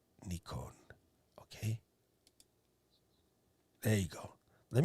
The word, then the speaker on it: Nikon: remember correctly something of that nature anyway it's nikon okay there you go let me let me